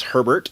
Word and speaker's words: Herbert: ur bear died and the proper the american way to say his name is herbert ollie herbert though i'm pretty sure he pronounced it her bear if not his parents